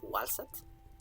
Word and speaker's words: Waset: And this is the symbol for what's called waset in Egyptological pronunciation. Reconstructed, it would be, I think, walset.